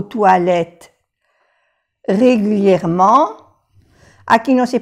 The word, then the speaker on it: toilettes: Vous allez aux toilettes régulièrement. Aquí no se pronuncia la X, es una X de plural y aquí también la S de plural, toilette, pero tampoco se pronuncia la E.